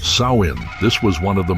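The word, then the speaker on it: Samhain: Long before the name Halloween existed, people in the lands we now know as Ireland, Scotland, Wales observed a festival called Samhine, pronounced sain.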